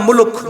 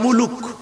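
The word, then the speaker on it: الملك: সূরার নাম মুলক। মনে থাকবে তো ইনশাআল্লাহ? মুলক মনে থাকবে না? আর যদি আপনারা ওইভাবে বলেন বাংলা ভাষায় মুলুক বলে না, রাগ করতেছেন? মুলুক, মুলুক। আর সঠিক উচ্চারণ করতে হলে কিভাবে? মুলক।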